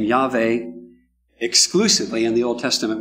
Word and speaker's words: Yahweh: And I pronounce it Yahweh, not Yahweh, because Hebrew is a living language. It's still spoken today, right? And in Hebrew today, you would pronounce that Yahweh.